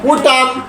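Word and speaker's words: autumn: তাহলে এখানে এন এর উচ্চারণ হয় নাই। ইউ টি ইউ এম এন, টি ইউ এম এন। আবার কন। উটাম উটাম উটাম।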